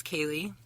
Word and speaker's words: Kali: So kali kali kali kali kali kali. Okay. So my name is Kaye, but it's spelled K A L I.